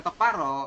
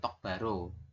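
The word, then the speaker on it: 똑바로: nah ini ya jadi tulisannya itu seperti ini tok Baro tulisannya tapi nanti teman-teman Bacanya adalah tok paro bukan tok Baro seperti itu jadi dibaca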